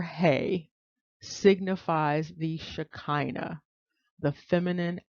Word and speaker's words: ה: symbol that divine feminine symbol and it is pronounced hey you might see h-e-y or h-e-i with respect